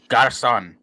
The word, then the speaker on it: garçon: not Gaston. It's garçon. It's almost like waiter in a way.